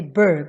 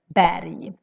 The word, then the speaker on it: berg: to want to say berg when you see this word. But no, we would always pronounce this as berg, because R is together with a G.